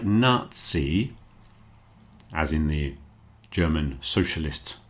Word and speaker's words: Nazi: So a word like Nazi as in the German socialist party is pronounced Nazi. It's pronounced more like a ts sound. Nazi and also the composer Mozart takes the same pronunciation.